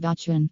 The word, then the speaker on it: Batuan: Bachuan village eventually came to be called Bachuan, from the word of Batu/rock, because in that time in this region is a rocky area the famous Balinese sandstones are still produced here in northern of Bachuan, then because of daily changes in the pronunciation then more popularly known as Bachuan village.